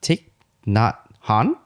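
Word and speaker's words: Thich Nhat Hanh: isn't it yeah yeah it's tick not Han I think that's how it sounds a real name said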